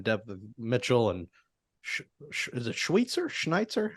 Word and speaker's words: Schweitzer: Yeah, if anyone goes down there with a ton of offensive line depth, Mitchell and is it Schweitzer? Schneitzer? How do you say it? Schweitzer.